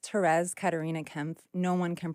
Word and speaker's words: Thérèse: it I said it perfect all my names terz Karina Kemp no one can pronounce any of them I literally called an